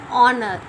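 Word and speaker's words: honour: And the next word is honor. Here H is silent.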